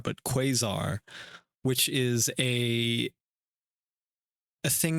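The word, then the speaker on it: quasar: I I have heard it and maybe to many others have heard it not pronounced quizar but quazar.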